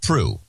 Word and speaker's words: Prue: Stacy, I used to know how to pronounce Prue. Yeah, just Prue.